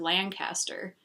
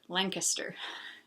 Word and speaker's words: Lancaster: who's from that area told me that she could tell I was from out of state because I said Lancaster but my understanding is that people in Lancaster pronounce it Lancaster so it's a lot